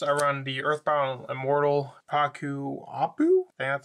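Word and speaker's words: Ccapac Apu: into it first I run the Earthbound Immortal paku Apu and that's how it's pronounced you can only control one Earthbound and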